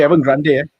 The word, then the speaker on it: Evergrande: Okay, let's talk about Evergrande or Evergrande. I don't know how we pronounce it in English. It's supposed to be Evergrande.